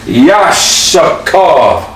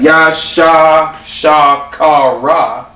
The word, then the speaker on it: Issachar: Yashakar. Sha. It's okay, right? Yup. Because I always be like, Yashishka car. Yashakar. Issachar. Yashakar. These get pronounced together, solo, together. So not Yasha Shakara. Yashakar. Yeah, when I first saw